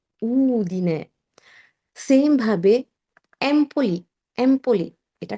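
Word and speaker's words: Udine: অনেকেই বলে উদিনে থেকে এসেছি, না, উদিনে, উদিনে, উদিনে না, উদিনে।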